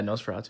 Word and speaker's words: Nosferatu: Starting at number 4, I got Nosferatu, or not, yeah, Nosferatu. I think that's how it's pronounced.